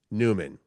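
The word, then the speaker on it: Nyman: his name is Yanni Newman which you wouldn't know because his last name is spelled n y m an Newman I think he's from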